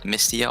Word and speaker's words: MSTIO: I put it all caps and it was MSTIO, and they pronounced it Mistio on Xbox.